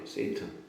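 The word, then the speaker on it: Satan: 우리는 사탄이라고 이제 그냥 생긴 대로 읽지만 영어 발음식 발음은 세트이에요. 세이트.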